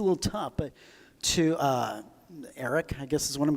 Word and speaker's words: aerc: to pronounce it the aerc Eric I don't Eric is that's how it's pronounced the setup for it so easy like